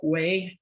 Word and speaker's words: Hue: Now, Cam was born in Hue. Cam, am I pronouncing that right? Yes, okay. Hue, Vietnam in 1959 to a South Vietnamese Army nurse.